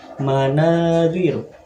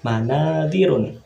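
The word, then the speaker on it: مَنَاظِرُ: Manadiru ini cara membacanya tidak ditanwin ya. Jadi bukan manadirun, tetapi manadiru. Karena setiap kata yang mengikuti wazan mafa'ilu, setiap kata yang mengikuti wazan mafa'ilu, cara membacanya tidak ditanwin ya. Jadi kita baca manadiru.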